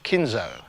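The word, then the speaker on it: Kinhult: in h ult and the way the announcers were pronouncing it was like kinzo he is from Sweden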